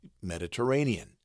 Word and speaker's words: Mediterranean: is in bold caps so our um example word is Mediterranean Mediterranean the Ray has the Bold caps so that gets the